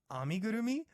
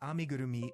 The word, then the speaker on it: amigurumi: painting mandalas or acrylic pictures or crochet some amigurumi oh well good to see another Japanese culture